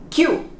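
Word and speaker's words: queue: the front of the line okay q it's pronounced very easy k-i-u q how about the number 13 13 again the th here in the front 13.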